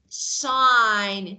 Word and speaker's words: sign: So if you see a word like sign, GN, like design, GN, G is not pronounced.